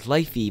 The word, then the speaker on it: LiFe: move on to lipo lifee batteries out of its life life eos pronounce it life E which is lithium polymer